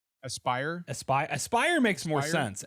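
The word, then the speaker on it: Aspyr: I think it's pronounced aspir Aspire Aspire Aspire makes more sense actually now that you say that I think it's Aspire um they've done a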